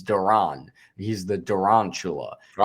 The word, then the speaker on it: Duran: That was He literally once made a video saying how to pronounce his name. It's It's Duran.